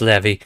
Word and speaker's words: Levi: Levy. I know it's spelled like Levi, but it's Levy.